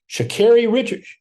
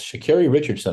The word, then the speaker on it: Sha'Carri Richardson: Sha'Carri Richards. Yes, Sha'Carri Richardson. I actually said it right.